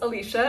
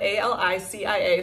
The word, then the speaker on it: Alicia: i c i a so it's spelled Alicia but pronounced Alicia uh but for my foreign friends in they romance languages if you are French or Spanish it's more natural to say Alicia and I welcome that